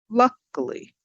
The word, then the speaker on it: luckily: Luckily, luckily, up on the first.